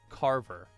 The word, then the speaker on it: CRVFR: went by the stage name CRVFR, pronounced Carver.